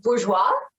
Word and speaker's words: Bourgeois: I typically say bourgeois, but bourgeoisie makes sense because that is kind of the term. So, but bourgeois is how I pronounce it.